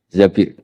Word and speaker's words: Zabir: Abdurrahman Bin Zabir di di hadis ini Bu bukan bacanya bukan Zubair tapi Zabir Abdurrahman Bin Zabir tapi orang Arab itu